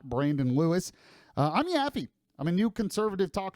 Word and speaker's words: Yaffee: It's spelled Y-A-F-F-E-E, YAFFEE.